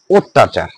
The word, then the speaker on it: অত্যাচার: সে কারণে এই ত এর পরে যে জ ফলা আছে সে কারণে এর আগে অটা কি হয়েছে ও হয়েছে।